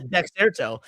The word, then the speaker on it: Dexerto: I thought it was Dexerto. I thought there was an extra T. Hold on. Is there not? Hold on. I don't think so. Oh my God, it's Dexerto. I've always thought it was Dexerto. I thought there was two T's.